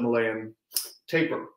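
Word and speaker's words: Malayan tapir: black and white at the zoo is the malayan taper uh and that is how you pronounce that word because i looked it up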